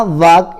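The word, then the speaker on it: walk: फिर है आपका वॉक यानी चलना, वॉक यानी होता है चलना, लेकिन हम एल को नहीं पढ़ रहे हैं, एल साइलेंट है इसमें।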